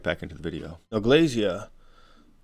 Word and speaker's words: Glasya: into the video now Glazier or glacia which is probably the closer pronunciation appears as a 9